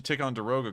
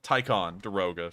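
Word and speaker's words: Ticonderoga: see how much a tick on deroga costs a billion um so that's how much you take on deroga uh tycon deroga sorry i've just realized i've been mispronouncing that so that's how much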